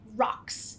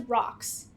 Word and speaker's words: ROCTS: I'm gonna name it rocks and you'll see why in a second there's a T in there it's gonna be silent I'm just gonna pronounce it as rocks that way I can